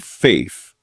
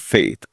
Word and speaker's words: FAFE: I said FAFE, not faith. FAFE. You know how people say it wrong.